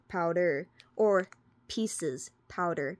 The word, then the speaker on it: Pises: we're going to go over P powder or pieces powder p i s e s bade powder